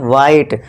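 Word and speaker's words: white: क्योंकि यहां पे एच क्या है? साइलेंट है। और यहां भी व मत करना। ये वाला। व नहीं ये गलत हो जाएगा। क्यों? क्योंकि यहां एच है हमारा साइलेंट है।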